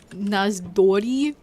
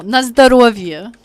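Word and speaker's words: на здоровье: You were trying to say Nazdori? No, Nazdarovia. At least that's how you say it.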